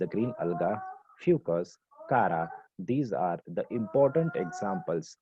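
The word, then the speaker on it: Chara: क्लैमिडोमोनास कॉक्सीफेरा, सरगैसम इट इज the brown अलगा, Volvox it इज the green अलगा, Fucus, कारा, these are the important examples of ओगैमी। इसे बहुत सारे बच्चे चारा प्रोनाउंस करते हैं।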